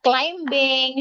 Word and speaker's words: climbing: No, not climbing. She climbing. Climbing. Okay, this is silent B. We don't read the B.